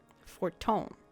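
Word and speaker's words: Fortemps: be said that house for Tom does not acknowledge the efforts of our allies or her debts for Tom I gotta remember that's how you say it I'm gonna say for Temps it was in the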